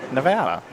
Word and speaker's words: Nevada: And if you're from there, it's pronounced Louisville. Louisville. I'm I'm getting that. Just like uh Nevada is actually Nevada.